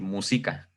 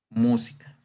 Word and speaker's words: música: De decir música. Pues obviamente no existe. Entonces realmente pues la palabra correcta sería la que nosotros ya conocemos, ¿verdad? Que es música.